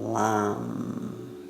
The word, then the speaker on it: Lam: Our exercise is the low-toned Om and the one-syllable Sanskrit mantra for the root chakra is Lam with an L. Lam, Lam.